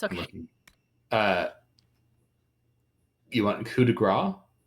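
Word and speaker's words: coup de grâce: You want coup de grace? I called it Coupe de Grace when I was little. I mean, that's how it's spelled.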